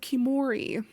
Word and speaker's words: Khiimori: Now, let's go into my most anticipated that does have a release date, Sean, and that is Legends of Kimori, which is spelled Khiimori.